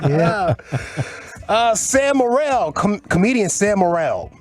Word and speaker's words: Morril: Sam Morril, comedian Sam Morril. Morril? I think you're right. Morril. Okay, moral. I read it moral.